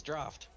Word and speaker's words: draught: It says draft, not drought. Oh, did I read it something wrong? My bad. It's fine. It's spelled drought. Listen, alright, shut up. Yeah, how is it pronounced? It's draft.